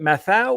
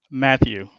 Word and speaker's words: Matthew: Do you pronounce it Mathau or Matau? Matthew. Matthew.